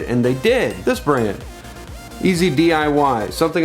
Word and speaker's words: EZ-DIY: they did this branded easy DIY something I spent a long time trying to figure out how to pronounce before I realized it's easy DIY anyways that note aside